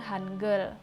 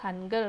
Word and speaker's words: Hangeul: Korea itu disebut dengan Hanger huruf hangeul begitu menyebutnya ya tulisannya Han gaul tapi membacanya hanger hanger memiliki fakta yang